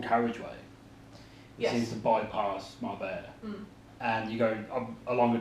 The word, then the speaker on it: Marbella: Or Marbella, depending on how you pronounce it. It's Marbella, sorry.